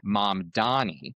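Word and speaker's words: Mamdani: people that are running Mom Donnie. Oh, please tell me I pronounced that correctly. Yes. Thank God.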